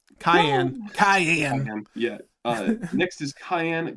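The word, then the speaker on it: Kianne: Next is Kian, or Kian? How do I Cyan! pronounce Cayenne. Kian? Cayenne.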